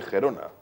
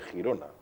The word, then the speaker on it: Girona: cual el ayuntamiento de gerona que creo que ahora por una enfermedad se dice Girona Cómo se escribe Girón